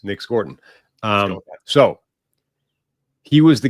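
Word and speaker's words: Scourton: get to Nick Scorton uh who we've called Scoutton before. I think we're going to roll with Scortton now that the Beast is out.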